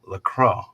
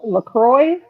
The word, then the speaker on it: LaCroix: Jonathan but I don't even know how to pronounce Crow cross nasty stuff in the store today look lacrosse okay well LaCroix oh Lacroix okay it's flavored water with no